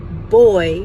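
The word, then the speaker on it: voy: So, the word boy, which is spelled V-O-Y, and means I'm going to, that V sounds like our B.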